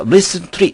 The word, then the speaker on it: recently: N 다음에 T는 거의 발음되지 않습니다. 그래서 recently 이렇게 발음되는 경우보다는 recently 이렇게 발음되는 경우가 무척 많습니다.